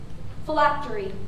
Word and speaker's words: phylactery: Phylactery. Am I pronouncing that correctly?